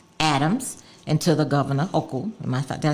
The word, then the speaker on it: Hochul: So to the NYCHA chair, Greg Russ, to the mayor, Adams, and to the governor, Hochul.